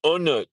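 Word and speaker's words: On Nut: It's pronounced Unnut.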